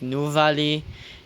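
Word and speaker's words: Nuvali: like the episode when we went to like new valy which it's spelled n u v a l i by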